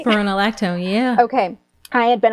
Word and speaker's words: spironolactone: And the other thing that was really incredible is that I had been on this medication called spironolactone. I'm not sure if I'm saying it right. Yeah, spironolactone, yeah.